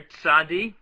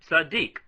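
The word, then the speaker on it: צדי: That's the letter tzadi, also pronounced tzaddik. The Sephardim and others pronounce this letter as a tzaddik.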